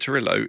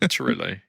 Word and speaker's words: Trujillo: Robert Torillo. Yeah, you would pronounce the J as a Y like they do in Scandinavia and stuff, and like South America.